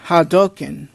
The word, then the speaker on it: Hadouken: I would do the hadoken yes that's how it's pronounced how dolkin I know it sounds it sounds saying Hadouken it's hadoken kind of like saying the satsui no Hado which is the which